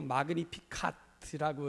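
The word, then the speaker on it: Magnificat: 사실 오늘 이 노래가 이 라틴어로 마그니피카트라고 이렇게 발음을 하는데, 이게 이제 찬가, 이렇게 우리로 번역을 합니다.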